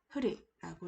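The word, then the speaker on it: हृ: 자, 읽는 방법은 흐리라고 읽으시면 되겠습니다.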